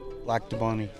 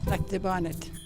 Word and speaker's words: Lac du Bonnet: on Second Street and most will say their Town's name like this black Deon black Deon but not everyone says it that way black debonet okay and you've always